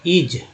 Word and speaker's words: is: एस को स बोलते हैं, इसको ज भी बोलते हैं। कैसे, मान ली आई, एस को क्या बोलते हैं, इज, इज बोलते हैं ना।